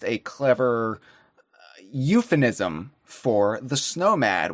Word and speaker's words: Snowmad: And the Tundra Wanderer is almost a clever euphemism for the Snowmad, which in and of itself rhymes with nomad, which is a very fun way of saying Viking.